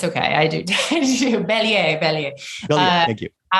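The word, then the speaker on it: Bélier: And I'm sure I pronounced it wrong. Yeah, it's okay. I do. Belier.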